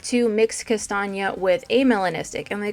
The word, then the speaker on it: Kastanie: Kastanie looks like the word Kastanie, but since it is German, it is pronounced Kastanie.